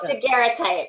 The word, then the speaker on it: daguerreotype: Chandra, I have to know if I'm probably pronouncing it incorrectly. Say it again one more time. Oh, daguerreotype.